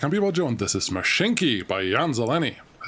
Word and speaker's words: Mashinky: and welcome back I'm people doing this is mashinki by Jan zeleni I said it right this